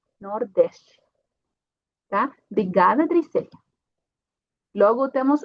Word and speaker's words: Nordeste: E Nordeste porque temos aqui uma T no final, então a pronúncia vai ser como Ti, Nordeste.